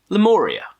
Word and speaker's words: Lemuria: Moon Broods over lamoria's lemuria lemoria is that how you say it yeah this is the debut